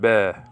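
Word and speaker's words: בְּ: Whenever there's a schwa underneath that, the first consonant like this with a preposition, well, it's like, just say, okay? Very hard to pronounce this, but it's basically that's why it's just like an upside down E, sort of, you know, like that. So just pronounce it be.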